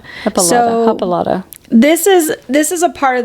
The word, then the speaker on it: Hippolyta: If you guys can't tell, we're having a tough time saying it because the words the letters do not match it phonetically. Yeah, it's hippo. Hippolyta. Hippolyta.